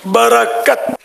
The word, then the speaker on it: برکت: سید محمود رضا عطاری۔ سید محمود رضا کا جواب درست ہے، صحیح تلفظ ہے برکت، برکت۔ سید صاحب کو بھی